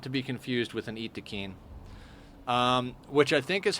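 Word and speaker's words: Yttakin: it's Yayo, and like Francis calls the Wookiee people Yatkins, because of the way it's spelled, but I'm pretty sure their official way of pronouncing it is Itakeen.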